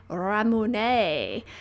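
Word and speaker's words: Ramune: 1800s uh I believe called Ramone which is uh modeled on the Japanese pronunciation of lemonade and it's quite fun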